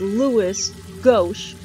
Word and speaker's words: Louis Gauche: Two, Diana, the little girl, was saying Luis, and his name, he pronounced his name as Louis Gauche, so I'm going to call him Louis, Louis Gauche.